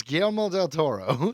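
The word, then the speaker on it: Guillermo del Toro: It's GMO del Toro.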